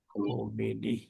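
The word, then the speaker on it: خامنه‌ای: তো মনে নাই কারণ কি বলতে ইউ এ কমেনি ঠিক আছে না কামেনি হবে কমেনি হচ্ছে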